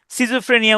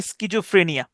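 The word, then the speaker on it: schizophrenia: স্কিজোফ্রেনিয়া এটাকে আহ, বাংলাতে হলো সিজোফ্রেনিয়া উচ্চারণ করে, তো এটার ইয়াটা হচ্ছে স্কিজোফ্রেনিয়া।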